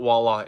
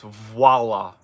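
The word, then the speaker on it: voilà: onto him they said it's not wallah it's voila who knew who knows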